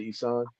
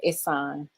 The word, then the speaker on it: Ihsan: is doing now if am I pronouncing your name right Dr isan No it's Dr isan okay that's what's up